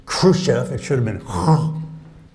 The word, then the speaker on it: Khrushchev: he pronounced the word Khrushchev he talked about Cham and Khrushchev and that has four mistakes in at first the accent he had it on the first syllable it should have been on the second